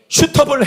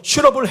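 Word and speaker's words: suitable: 슈터블 헬퍼랍니다. 좀 부드러운 발음으로 슈러블 헬퍼.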